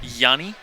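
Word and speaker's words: Jhonny: luck in my opinion Yanni Yanni with the silent h Johnny Peralta and David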